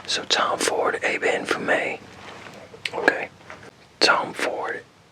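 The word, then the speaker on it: Ébène Fumé: I'm gonna look up and see how that's pronounced. Okay, it's Eben Fumé. So Tom Ford, Eben Fumé. Okay. Tom Ford, Eben Fumé.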